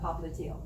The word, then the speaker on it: popliteal: compartment of the thigh, it's called the popliteal artery. Or if you prefer, popliteal, wherever you want to put your emphasis on which syllable.